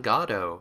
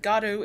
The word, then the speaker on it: Godot: So people might say it Godot or any number of ways people might say Godot, it. Yeah, Godot you'll sometimes hear. Yeah. I'm a weird literary person, so I'm like, well, the playwright of Waiting for Godot specifically said that God is an important syllable in the name. But yeah, either way works.